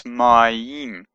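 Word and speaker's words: מים: This Shemayim, that means heavens, and this is ma, it's a sound, but when it's followed by yod, it becomes my, and it's a m at the end, so it's mayim. A little dot here is a chirik, just makes it an sound, but becomes a im sound with the yod, so it's mayim, mayim.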